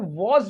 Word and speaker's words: was: इज डब्लू ए एस यह जो word होता इसको वस भी पढ़ते हैं और इसको वज भी पढ़ते हैं इसको वस भी पढ़ते हैं और वस भी पढ़ते हैं जब हम इसे वस पढ़ते हैं याद रखिए जब इसे वस पढ़ते हैं तो वह ब्रिटिश एक्सेंट में पढ़ते हैं ब्रिटिश एक्सेंट में इसको वस पढ़ा जाता है और अमेरिकन एक्सेंट में इसको पढ़ते हैं वज क्या पढ़ते हैं इसे